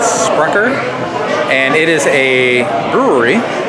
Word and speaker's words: Sprecher: And we are roaming around Wisconsin still in Milwaukee, and we have decided to stop off at, I believe it's pronounced Sprecher? Sprecher.